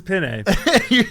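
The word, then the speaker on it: Peña: Texas you can't pronounce paa no this is not paa this is Pine idiot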